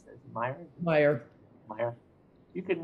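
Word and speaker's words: Maier: How do you pronounce that? Meyer.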